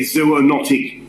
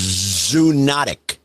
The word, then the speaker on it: zoonotic: 1 of the Iliad, it is a zoonotic disease.